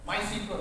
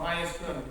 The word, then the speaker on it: MySQL: the the data management my cql or MySQL depending on how you want to pronounce it is an article you